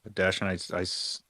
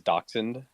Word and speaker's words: Dachshund: The way you say it is dachshund.